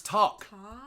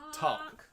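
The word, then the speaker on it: Taake: It's Talk. Talk. Okay. It's not, you don't elongate just because it's two A's.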